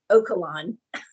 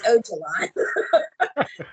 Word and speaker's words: Öcalan: She was butchering the PKK leader's name, calling him Öcalan. It's Öcalan. Öcalan.